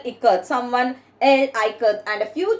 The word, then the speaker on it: ikat: So now see here, I as in it and ka as in Kamala, K-A-K.